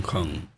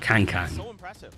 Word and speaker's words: Kong: that she's saying like it's pronounced Kong Kong not Kang people still call him Kang not a of this